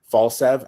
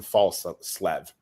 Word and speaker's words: Falslev: from a scoring standpoint, Falsev, and I'm saying to wrong, Mason Falslev. Mason Falslev. That's his proper pronunciation.